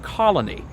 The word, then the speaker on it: Colony: That 3-syllable word, Colony, if I'm not careful, it comes off my tongue as 2 syllables, and I get frustrated with myself.